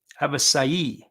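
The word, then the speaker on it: Avisaíl: So we asked Garcia how he says his name, and he said his name was Avisail. So Avisail Garcia. So that's how he pronounces it, which I thought was very interesting.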